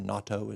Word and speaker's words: natto: I like natto the best, probably, or natto as they pronounce it.